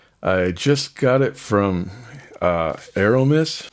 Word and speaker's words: ArOmis: I just got it from ArOmis. I think a closer pronunciation would be ArOmis.